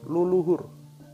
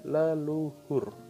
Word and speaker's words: leluhur: lu dibaca Dua kali menjadi luluhur pelafalan kita adalah leluhur lanjut ke tepung rangkap